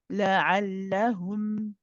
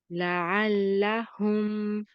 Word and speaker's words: لعلهم: Then we have la'allahum. Try it, Sister Isha. لعلهم. La'allahum. لعلهم.